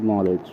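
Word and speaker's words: knowledge: এবার বলবো যেমন ধরুন কিছু ক্ষেত্রে মিউট থাকে কে নভ নভ নলেজ এই ধরনের শব্দে কে গুলো কিন্তু আমরা ইউজ করি না এগুলো মিউট থাকে ঠিক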